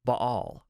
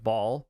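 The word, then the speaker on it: Baal: from what I've read the way you say it in the original Hebrew because it's a Hebrew word is ba'al that's how you say it there but the English pronunciation can be either ball or Bale depending on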